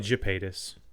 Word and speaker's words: Gypaetus: It's probably Gypaetus. Yeah. Because there's only one word that starts with a G and a Y that has a hard G.